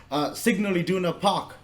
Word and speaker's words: Signal Iduna Park: Signal Iduna Park, Borussia Dortmund's home ground.